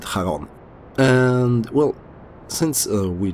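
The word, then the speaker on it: Charon: I pronounce it Haron.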